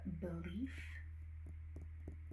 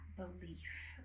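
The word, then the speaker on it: Belif: After that, we have belief. Yeah, belief. But it's spelled a little differently.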